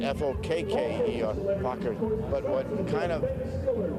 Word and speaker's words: Fokker: It's spelled F-O-K-K-E-R, Fokker.